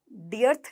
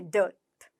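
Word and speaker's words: dearth: डियर प्यारा, डियर प्यारा, डर्थ, डर्थ, डर्थ, डर्थ कमी, डियर्थ नहीं है, डियर्थ नहीं है, डर्थ, डर्थ, ठीक है।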